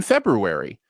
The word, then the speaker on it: February: I put the R in February.